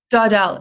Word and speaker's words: Daudell: Is it pronounced Daudell? Daudell. It's actually French.